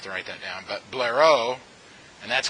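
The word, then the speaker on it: Blériot: write that down but Blair oh and that's how you say it I'm not that my French is that good but this T is silent in his last name and he took his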